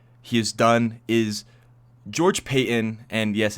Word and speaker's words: Paton: has done is george payton and yes it's pronounced payton not patton george payton has not